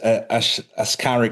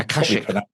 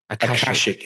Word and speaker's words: Akashic: But how this ties into this Ascaric record, I'm Akashic. Akashic. I was just going to say, I know I've just mispronounced that.